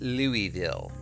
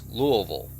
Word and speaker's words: Louisville: wondering the largest city in Kentucky is not pronounced Louisville it's Louisville this guy said Louisville because it's